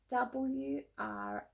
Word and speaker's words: wrote: WROTE, wrote.